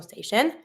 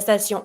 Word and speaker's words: station: La station, careful with the pronunciation here, I-O-N, yon. And every time you have T-I, plus after the I, another vowel, here is the O, the T is going to be pronounced like a S.